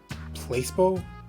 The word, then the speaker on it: placebo: today repeat after me Placebo distress is the stress is on the middle syllable Splendid it's so Charming